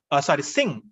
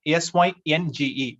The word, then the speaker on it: Synge: Synge, Synge, S-I-N-G, kind of, that's the pronunciation of this spelling, S-Y-N-G-E, Synge.